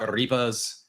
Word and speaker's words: arepa: You want a short E sound in the middle, eh, not E. Arepa.